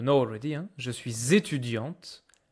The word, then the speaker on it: étudiante: Un étudiant, une étudiante. T at the end.